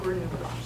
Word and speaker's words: Granula: it from the Dansville, how do you think they pronounce it? Granola or granula or, you know, I just no. But we know that Dr. Jackson named it Granula. That line over the U is important.